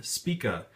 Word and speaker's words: Spica: I guess there's twin spica volume one sorry twin speaka volume one turns out I've been pronouncing that wrong and it kind of